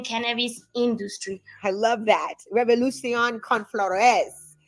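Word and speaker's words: Revolución con Flores: Revolution Con Flores.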